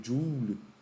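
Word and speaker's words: joule: Ou jou, como seria a pronúncia, né? Em inglês, em homenagem ao ao físico escocês né, Julie.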